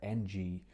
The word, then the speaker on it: Enji: Today I'm reviewing a piece of software called Enji, or NG, depending how you actually pronounce it. It's E-N-J-I.